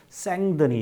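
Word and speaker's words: Saint-Denis: 3인 페니스 근데 이제 이 샌 데니스 라고 되어있는데 이 뜻이 이제 부랑자 사람이군요 이잖아요 그래서 발음을 뭐라고 하느냐 며 생 드니 이라고 그래서 그어 빠리의 가보면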